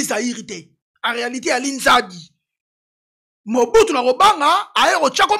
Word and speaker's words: Nzadi: faut pour na combo yo yo ezaki mal prononcé combo ya Zaïre OK en réalité elle est Zaïrité en réalité elle est Nzadi Mobutu na robanga ayo chako ma Zaïre.